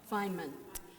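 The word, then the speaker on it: Feynman: Well, we were talking before and I brought up a scientist uh, and I'm going to mispronounce his name. I think it's Richard Feainman. Richard Fineman. Fineman.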